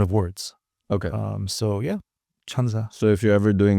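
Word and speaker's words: 천사: But no, 1004 phonetically, when you say it, it's chansa in Korean. Chansa. And chansa, there you Okay. go. And chansa also means angel.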